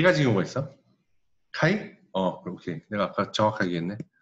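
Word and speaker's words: χ: 카이? 오케이. 내가 아까 정확하게 했네. 자, 얘는 카이라고 부르는 거야. 일렉트론 어페너티야, 우리말로 하면. 카이라고 읽는 거고, 읽는 거는.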